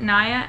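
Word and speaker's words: Niia: I've been loving Nia, I believe you pronounce it, Nia, N-I-I-A.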